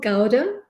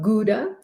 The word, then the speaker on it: Gouda: this time there was goat small gowda or for those of you in up in europe gouda or even in the u.s i believe there's different pronunciation but we say gowda there was cheddar there